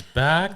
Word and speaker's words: BAAK: a madeup word and for us in French back b a a k and back B CK is pronounced the same so we get a